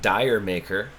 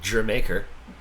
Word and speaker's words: D'yer Mak'er: It reads like dire maker. It's actually pronounced Jamaica, which is kind of